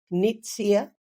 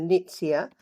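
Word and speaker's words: Nuytsia: exist anymore um it's a beautiful tree called nits here and um I I'll just spell that for you the nits here n u y TS I a flora bunder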